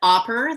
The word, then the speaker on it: Opper: word so my friend opera the frog his name is oper because it rhymes with hopper and frogs hop right